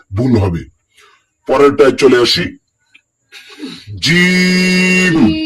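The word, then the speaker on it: جيم: অনেকে বলে জিম হা এভাবে বলা যাবে না। এটাকে তিন আলিফ টানতে হবে।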